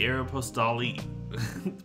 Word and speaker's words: Aeropostale: I say Aeropostale. Pronunciation. Oh no, I don't have trophies enabled right now. I'm sorry, Merle. I pronounce it like the correct French pronunciation.